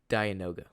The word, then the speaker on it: Dianoga: The answer is Dianoga. Dianoga? I think that's how you pronounce it. Okay. D-I-A. Almost like Dionysus, the god of wine and partying.